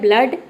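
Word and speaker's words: blood: double O आया है लेकिन यहां पे डबल ओ को हम ओ नहीं प्रोनाउंस कर रहे यहां पे डबल ओ को हम अ प्रोनाउंस कर रहे अ तभी इसका प्रोनंसिएशन हो रहा है ब्लड ठीक है फ्लड ब्लड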